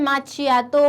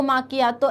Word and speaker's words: macchiato: अब है next is very important, इसका नाम लोग इसको जो है माचियातो, माकियातो, ऐसे बहुत गलत प्रोनाउंसिएशन आते हैं इसके। इसका प्रोनाउंसिएशन है एस्प्रेसो मॉकियातो, मॉकियातो, एस्प्रेसो मॉकियातो।